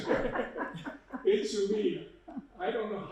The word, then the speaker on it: Idumea: Oh, this is the way you pronounce it. Idzumea. I practiced it, it doesn't make any difference, I still can't say it. Idzumea.